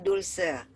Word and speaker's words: Dulce: Panggil Dulce atau? Panggilnya Dulce. Tulisannya pakai C, bacanya pakai S, Ci.